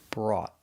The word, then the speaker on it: brought: O u here makes the sound aw, like ball and call, and the t is a stop t. brought brought Example.